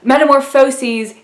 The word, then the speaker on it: Metamorphoses: the last one is the meta morphosis and yes that is how you pronounce it metamorphosis is a book by Franz Kafka about a man turning into a bug Metamorpho sees is a poem by Ovid about Greek and Roman mythology now oven would kind